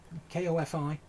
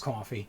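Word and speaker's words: Ko-fi: uh I've heard uh coffee I think K fi uh I I guess that's pronounced coffee see see when I see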